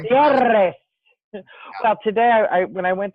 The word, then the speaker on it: Gutierrez: And Gutierrez is Gutierrez. Sorry, I speak Spanish.